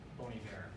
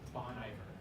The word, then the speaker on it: Bon Iver: name of Justin Vernon and his band, Boney Bear, or as it looks phonetically, Bon Iver. And that's okay. That's how I said it at first when I first saw it as well.